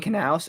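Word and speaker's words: Knous: How you say it? Hard K, Jim Knaus.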